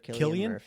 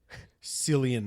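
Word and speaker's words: Cillian: Sillian Murphy. I don't know. I really don't know how to say his name. If it's Killian, I heard him on an interview.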